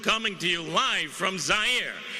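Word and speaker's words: Zaire: to you live from zire some would pronounce its air they're wrong it got big laughs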